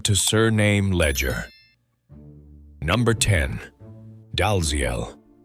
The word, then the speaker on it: Dalziel: It is written Dalziel, but the traditional Scottish pronunciation sounds closer to "Dee-el." The difference comes from an older alphabet. The letter that now looks like a Z once represented a Scottish character called yogh.